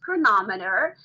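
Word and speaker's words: Cronometer: chronometer so that looks like chronometer but it's pronounced chronometer so it's a tracker that is really cool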